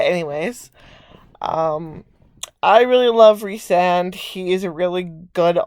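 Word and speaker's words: Rhysand: of the book and how she pronounces it is like reese so it sounds like r-e-e-s-e even though it's spelled way differently but anyways um i really love resand he is a really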